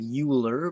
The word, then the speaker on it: Euler: so we introduced something new here now an Euler diagram is the way that's pronounced looks like Euler but it's Euler an euler diagram we use